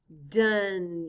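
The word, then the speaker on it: done: of has four letters one of them is silent and it rhymes with fun what's the word dun exactly good job you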